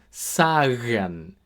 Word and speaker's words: sagen: So, here we have sagen, sagen, to tell.